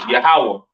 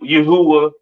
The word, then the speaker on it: yahawah: so on right so the lord's name is yahawah not y Yahweh or or not Yahweh all right yahawah to